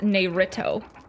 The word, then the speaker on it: Naruto: that but yeah no I obviously know it's pronounced Narito it's pretty similar yeah I was like what